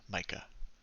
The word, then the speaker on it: Micah: And I'm glad you pronounced your name just now because I definitely would have called you Ma. Micah.